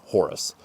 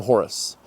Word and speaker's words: Horus: Now, the Egyptians did not pronounce his name Horus.